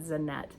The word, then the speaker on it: Zanete: So I went on her YouTube and heard her pronounce it, and she said Zanete.